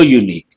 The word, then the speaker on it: unique: say and unique we have to say ER unique he is a unique person this has been